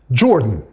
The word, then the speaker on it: Jordan: Okay, but of course in English they are both pronounced, they are both spelled like that, and they are both pronounced Jordan.